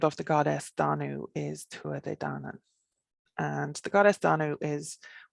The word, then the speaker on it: Tuatha Dé Danann: and then tribe of the goddess danu is tua de dana and the goddess danu is one that we